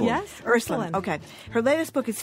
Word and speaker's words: Ursuline: Her latest book is Ursuline. Did I say it wrong? Yes, Ursuline.